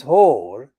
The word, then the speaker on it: Hoare: Francis Hoare, not spelt as a Whore like the prostitute whore, but this whore is pronounced spelled Hoar, who represents the voters